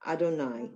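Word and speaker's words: אֲדֹנָי: So, but it's pronounced Baruch atah Adonai because that's like when you're really praying.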